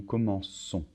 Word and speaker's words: commençons: Je commence, tu commences, il commence, nous commençons. Attention, on doit rajouter une cédille. Sinon, ça ferait nous commençons.